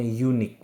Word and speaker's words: unique: 1930s nah ini eh perhatikan unikque meskipun depannya u Tapi membacanya unikque maka bunyi yang dihasilkan adalah bunyi huruf mati y unikque maka dari itu bukan n tapi e over e unique